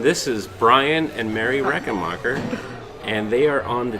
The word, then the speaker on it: Rechenmacher: name how do you say our last name reckon Walker yes tell the camera is that it that was right hi everyone this is Brian and Mary Rekha marker and they are on the T key with